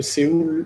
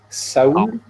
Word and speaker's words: Séoul: Donc la dernière fois, on a appris que Séoul se disait Saoul.